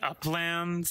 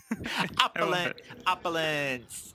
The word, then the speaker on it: opulence: Yeah, I've seen it pronounced as the Uplands. Like, is it Uplands? Is it Opera Lens? No, there's one that's Opera Lens and it has Ru with the opera glasses. Opulence. It's opulence. It's not Upperlands.